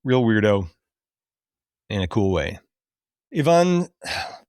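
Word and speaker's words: Yvonne: Ivan, how do you pronounce her last name? Strahovski. Strahovski. Is it Ivan or is it Ivan? It's Ivan, right?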